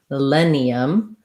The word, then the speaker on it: millennium: Sorry, I was saying first syllable stress, and that's wrong. Millennium is stressed on the len syllable, and the first syllable is unstressed. So millennium, thinking about it like mi, len, e, millennium.